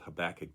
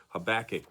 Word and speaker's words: Habakkuk: I've been saying it I always pronounced it habakkuk with the accent on the second syllable not sure why do